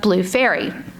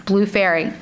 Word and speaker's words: Faery: Every single person came back with some version of Blue Faery.